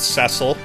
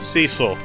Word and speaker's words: Cecil: and yes I know some people pronounce it Cecil I pronounce it Cecil so get over it monsters don't play favorites